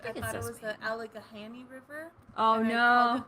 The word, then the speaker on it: Allegheny: Allegheny River. Oh, and no. I called it that for like 2 years until someone was like, actually, it's Allegheny.